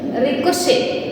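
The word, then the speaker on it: ricochet: floor and इट इज you have to pronounce it like Rick how to pronounce it आर आई सीओ सी ए ई टी एस रिक्शे रिक्शे ऑफ अ trophy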